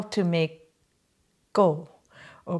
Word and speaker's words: gau: you how to make go or people say kao but the correct pronunciation is go which means cake and it's made with